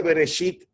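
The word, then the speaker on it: בראשית: como usted sabe que la primera palabra y viceversa se pronuncia bereshit y no se pronuncia para allá porque a través de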